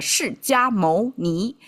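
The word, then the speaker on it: 释迦牟尼: Because Chinese translate um the founder of Buddhism is called a Shi Ka Mou Ni. Or I guess English pronunciation, but the Chinese translate the Shi Jia Mou Ni.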